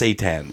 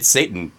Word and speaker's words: seitan: It's pronounced seitan. It's It's let the record show because listeners can't see this. Rob is face palming right now. Yeah. Well, I thought it was Seton, but it's Satan.